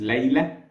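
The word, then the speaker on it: Layla: means one night and it's pronounced Lea in the original Arabic or in my accent Le my accent Egyptian accent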